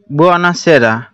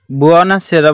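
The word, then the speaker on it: buona sera: বুয়ানা সেরার সঠিক উচ্চারণটি হবে বি ইউ ও এন এ, অর্থাৎ বি উ অ এন এ আ, বুয়ানা, এস এ আর এ আ, সেরা, বুয়ানা সেরা।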